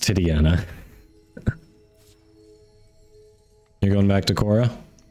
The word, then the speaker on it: Titania: thorough Shield is a nice element ability it's pronounced titiana you're going back to Cora okay Don's on